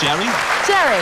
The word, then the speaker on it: Geri: That's pronounced Jerry. Jerry. Yeah, like Tom and Jerry.